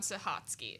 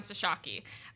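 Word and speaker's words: Sochocky: Well, she was working with someone uh named uh oh my gosh, Dr. Von Sahhatsky or Von Sashaki. There's different pronunciations of it.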